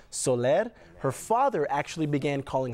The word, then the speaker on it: Soler: new york state and if you notice the pronunciation of her middle name soler her father actually began calling her family the solar family to try and assimilate into the culture